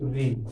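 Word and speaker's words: ऋ: ठीक, ये जो री होता है, ये इसको लिखते वक्त लिखते तो स्वर में लिखते हैं, लेकिन बोलते वक्त इसको स्वर में नहीं लिखा जाता। क्यों? क्योंकि इसका जो है उच्चारण वो क्या आता है? री। तो री कैसे बनता है? री इसको ही बोलते हैं री।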